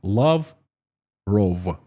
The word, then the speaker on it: Lavrov: I've heard Lavrov. Just as I am saying. Lavrov. Like Karl Rove. Love like love. Lavrov. Love Karl Rove.